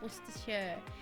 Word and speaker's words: Worcestershire: She was saying about pronouncing Worcestershire, and I know that a lot of American people pronounce it Worcestershire when it's Worcestershire at the end.